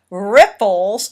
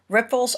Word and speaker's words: riffles: Riffles, and that is not a mistake; that is correct pronunciation of that. Riffles, R-I-F-F-L-E-S.